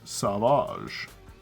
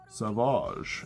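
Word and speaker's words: Sauvage: Honorary Professor Chat Savage. Savage. It has a U in it. It's not silent. It changes it changes how the A is pronounced. So fucking stupid. It's fucking French.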